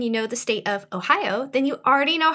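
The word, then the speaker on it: おはよう: japanese because it is ohio just drag out the o at the end and you are saying good morning in japanese shannon you want to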